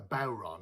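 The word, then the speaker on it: bodhrán: the word is a bauron okay so this is a bauron uh some people pronounce it buran but uh traditionally called a bauron which is a gaelic irish word uh the question is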